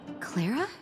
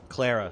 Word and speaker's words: Clara: it comes to names, I train myself to say, pronounce A as ah instead of a sharp A. Because I have like members of my family that go by like Anna instead of Anna.